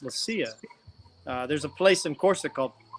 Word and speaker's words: Leccia: Right, but Italian it would be Leccia, 2 C's or a ch in Italian, so it'd be Leccia. But my family's from Corsica, which they're all Italian, but they all speak French, so the name's pronounced Lucia.